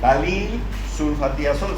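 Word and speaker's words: ftalilsulfatiazol: no no lean y no se compliquen con esta F así se escribe pero se lee dalil una vez de aquí dalil sulfa aol no se preocupe por esa é dalil sulfatiazol se llama ese medicamento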